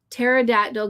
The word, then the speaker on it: pterodactyl: Nightbot says to Ambi, why can't you hear a pterodactyl go to the bathroom? You got it, Todd. You got it, dude. You got it, dude. The P is silent.